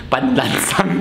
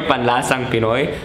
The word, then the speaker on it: Panlasang Pinoy: guys, I've been saying panlansang Pinoy means shibalakako. Panlansang Pinoy! Sorry. Sorry, panlasang Pinoy. I apologize for saying panlansang all the time, but panlasang Pinoy.